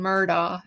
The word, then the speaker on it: Murdaugh: with an X and Murdaugh. Okay, so Murdaugh. Oh yeah, Alex Murdaugh. That's the way we say it. So, but in South Carolina, for some reason, the locals say Ellick and Murdoch.